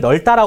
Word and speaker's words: 넓다: 다 같은 걸 원래는 널 따라 고 발음해 그래서 이렇게 되어있으면 넓다 가 아니고 원래는 널 따라 고 발음해 이게 마저 그런데 지금